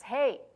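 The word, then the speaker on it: ה: like that in Hebrew and sounds should sound exactly like hey hey or hey so depending on the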